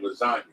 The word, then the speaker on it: lasagna: Like how the G is silent in the word lasagna.